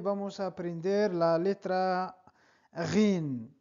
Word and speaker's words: غ: Me llamo y hoy vamos a aprender la letra Ghin, la letra Ghin, la letra Ghain o bien Ghin. Es equivalente a la R francesa Ghin, Ga, Ro, Ri.